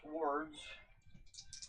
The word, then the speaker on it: sword: So they're going to use their swords and see if they can do a melee attack. Say it right. But sword. Say it right. Sword. Thank you. Not sword. Not sword.